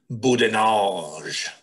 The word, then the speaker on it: boudinage: i've described it here i'd say boudinol absolutely that is the best way to say it a heavy french accent uh leering um and